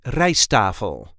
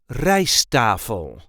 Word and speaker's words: rijsttafel: The emphasis in RIJST-TAFEL is on the first syllable, RIJST-TAFEL. RIJST-TAFEL. RIJST-TAFEL. And yeah, you do hear only one T. We don't really pronounce both T's. So that's why it's called RIJST-TAFEL.